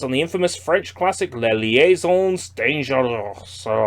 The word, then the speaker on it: Les Liaisons Dangereuses: A stylish new twist on the infamous French classic Les Liaisons Dangereuses. That's the official French pronunciation.